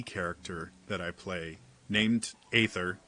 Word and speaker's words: aether: that I play named aether as much as everybody in this game pronounces it ether I don't understand why